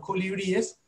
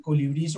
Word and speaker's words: colibríes: Y es, hablábamos de cómo se dice colibrís, que finalmente dijimos que no es colibrí, sino colibríes, y es básicamente como lo mencionamos la vez pasada. Colibríes es correcto y colibrís o colibríes no es lo más aceptado.